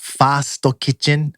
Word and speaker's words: First Kitchen: saying the f word it's first kitchen is pronounced Fasto kit and then there's a joke where they made